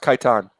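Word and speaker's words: Kaitain: Khaitan. The Emperor's planet. planet. Khitan. Yeah. It's pronounced Khitan.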